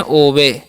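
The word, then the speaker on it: obey: next word है हमारा ओ बी ई वाई तो इस हम पढ़ते हैं ओवे क्या पढ़ते हैं ओवे पढ़ते हैं ठीक है और ओवे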